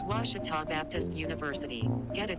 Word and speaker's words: Ouachita: ouachita sports digital network i've heard people say oh a cheetah oh wichita oh a cheetah is it pronounced oh akita searching for washi at a